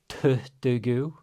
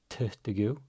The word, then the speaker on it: tuttugu: Again, you're experts with the double t at this point with the pre-aspiration. We've got tuttugu. tuttugu þrjáutíu þrjáutíu fjörutíu The u right here, people speak really fast in Icelandic, right?